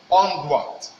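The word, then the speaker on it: doigt: And let us see how the thing is being pronounced. Here we have onduat.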